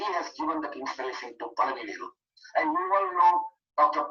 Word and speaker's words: Palanivelu: And most of the people in North India and US, they call him Palanivelu. They don't know the way we pronounce in Tamil, it's Palanivelu.